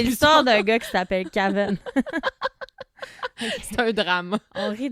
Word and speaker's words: Kaven: Là, je disais Caven, parce que c'est pas mon accent saguenay qui ressort. Ça s'écrit K-A-V-E-N, son nom. Caven. Mais je pense que je vais dire Kevin.